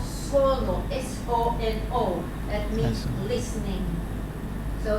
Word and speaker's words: Sono: This project is called Sono, S-O-N-O.